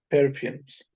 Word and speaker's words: perfumes: Perfumes, Perfumes. perfumes. Perfume, exactly. Perfume, perfumes. And the S should be clearly pronounced.